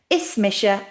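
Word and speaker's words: Is mise: Ismisha means it's me.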